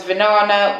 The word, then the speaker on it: Vinana: And the other one's Vinana, which rhymes with banana, as my mum said.